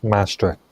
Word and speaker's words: Maastricht: Oh mastrict mastrict mastrict treaty.